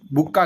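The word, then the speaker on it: bouquet: फूलों का जो गुलदस्ता होता है उसको बुक बुक्का कहते हैं फूलों का गुलदस्ता गुलदस्ता तो इसको जो है स्पेलिंग को ध्यान में रख लेना बुक्के कहते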